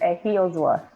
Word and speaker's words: Ehiozuwa: Ehiozuwa, or say, I'll let you say it, Faith, because you'll get it much more right than me. Well, you try. I give you that. So it's pronounced Ehiozuwa.